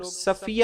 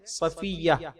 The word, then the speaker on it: صفیہ: رضی اللہ تعالی عنہا۔ اس کا تلفظ بھی کچھ لوگ صفیہ ادا کرتے ہیں، درست تلفظ ہے صفیہ رضی اللہ تعالی عنہا، مطلب چنی